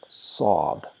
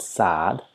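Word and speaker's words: صاد: But with Saad, we shape our mouth a little bit round. So in some way, O is hiding somewhere in the letter. It's not so-ad. It's not so. It is not at all so. So direct O is not there. We just slightly make our mouth round and produce the sound sod, sod. So it's not sad, sad. No, it's sod, sod.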